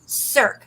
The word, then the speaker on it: cirque: And that's how you pronounce it because I looked it up. It's erosion cirque.